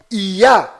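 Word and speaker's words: יה: Toda vez que estas duas letras hebraicas estão fazendo referência ao Altíssimo, estão fazendo menção ao Altíssimo, a pronúncia delas sempre é ia.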